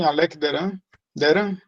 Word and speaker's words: Alec Deran: O Alec Deran Alec Deran de Penedo, pronuncia assim, Alec Deran.